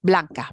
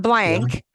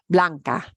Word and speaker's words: blanca: which is Blanca and what we're focusing on is our ah sounds isolating those sounds I'm trying to make that natural Blanca Blanca not blank yeah we got an English word blank yeah but no Blanca Blanca Blanca okay okay